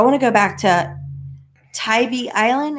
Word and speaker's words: Tybee Island: to go back to tybee island is that how you say it i've been calling it tibby island i've been corrected so many times but um tybee island